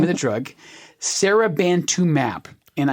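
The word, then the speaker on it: seribantumab: And this is going to sound like a mouthful, but this is the name of the drug, Serabantumab. And I'm emphasizing that last syllable, mab, because M-A-B, when you see it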